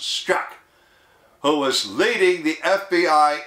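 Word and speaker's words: Strzok: FBI special agent Peter s-t-r-z-o-k pronounced Scott who was leading the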